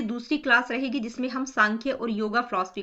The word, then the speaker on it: Sankhya: हुआ है ठीक है इसको हम प्रोनाउंस सांख्य ही करेंगे कई जगह आपको एस